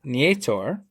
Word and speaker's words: Nietor: I'm glad I asked, so now I know it's pronounced Nieto.